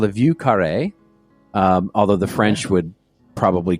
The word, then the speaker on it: Vieux Carré: It's called a Vieux Carré. Although the French would probably cringe at my pronunciation.